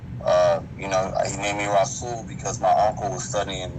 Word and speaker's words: RA-SOOL: Now, am I saying that right? Yeah, you saying it right. It's RA-SOOL. RA-SOOL.